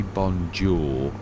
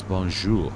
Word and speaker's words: bonjour: If you say bonjour in English, it's not right. It's bonjour. You've got a j, yeah, and like you've got R and sh.